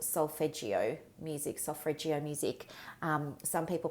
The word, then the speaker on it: solfeggio: Some of my very favorite music for clearing and cleansing a space is called solfeggio music. Some people pronounce it solfreggio, Solfreggio.